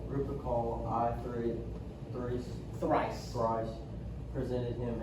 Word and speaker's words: Lupercal: Lupercal. Lupercal.